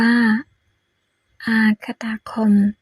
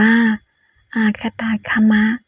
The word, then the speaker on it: อาคตาคมะ: อภัย ด้วย นะ คะ เมื่อ สัก ครู่ อ่าน ผิด อ่าน ว่า อากตะ คม ต้อง อ่าน ว่า อาคตาคมะ ข้อ ความ จาก พระ